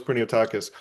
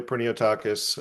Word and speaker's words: Priniotakis: So, uh, my correct pronunciation is, well, it's technically it's Pernotakis, but I go by Pineotakis.